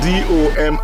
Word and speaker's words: Dominica: It is spelled D-O-M-I-N-I-C-A. It is not Dominican Republic. It is pronounced Dominica and is situated between Guadeloupe and Martinique in the Caribbean.